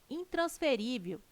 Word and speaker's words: intransferível: Presentes no texto, os vocábulos caráter, intransferível e órgãos são acentuados em decorrência da regra gramatical que classifica as palavras paroxítonas. Item correto. Caráter, intransferível e órgãos têm sua sílaba tônica na penúltima sílaba.